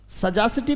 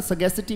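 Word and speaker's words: sagacity: सजासिटी भी बोलते हैं, बट उच्चारण सगेसिटी भी है, ब्रिटिश लोग इसको सगेसिटी बोलते हैं, बोले सगेसिटी।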